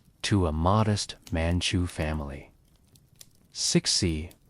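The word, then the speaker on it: Cixi: Sixie, pronounced sushi, entered the imperial palace at age 16 as a lower ranking concubine to the Sean Fang Emperor.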